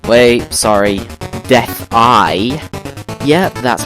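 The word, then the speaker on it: Death-I: And my entire life I've been calling this thing Deathel, because it just looks like that, but it's actually a capital I there, so it's Death-Eye, which makes sense, I guess.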